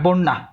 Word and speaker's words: বন্যা: এই নিয়মটা আমরা একদম এর নিয়ম, এটা হবে বন না, এটা উচ্চারণ এরকম হবে বন্যা।